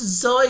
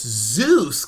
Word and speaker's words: Seuss: are saying things like it's pronounced zoy it's Dr zo not in America it isn't it's Zeus guys it's Zeus like in Good Old Die Hard with a Vengeance my name's Zeus he said hey Zeus